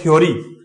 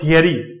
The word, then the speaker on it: theory: अब ये वर्ड देखो इसमें बोलते हैं थ्योरी, बट इस वर्ड का जो करेक्ट प्रोनाउंसिएशन होगा वो थियरी। ये थ्योरी नहीं होता है, थियरी। देखो थियरी, ये देखिए तो थिन, थिप, थियरी, नॉट थ्योरी, क्योंकि देखो हम हैबिचुअल